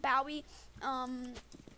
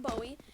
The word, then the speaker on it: Bowie: is the bow a knife and yes it's pronounced bow II it is it's not Bowie but this um I love it now this